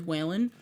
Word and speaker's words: Whalen: are because okay so my last name is whale with an N at the end that's what it is whaling um and it's spelled